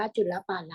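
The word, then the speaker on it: จุลปาละ: อัน ว่า จุล ปาละ แล้ว ก็ ตัด ตัว เครื่อง หมาย สระ โอ ออก นะ คะ อ่าน ว่า จุล ปาละ ต นี้ เขา มี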